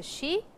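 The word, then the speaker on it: し: Please try to pronounce the shi. It is shi as in the English S-H-E, shi, but over here the syllable is S-H-I.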